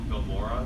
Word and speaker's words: Filmora: The editing software I use currently is called Filmora. There's a free version if you want to get that. It's just how it's spelled exactly how it sounds. Film and then Mora, O-R-A.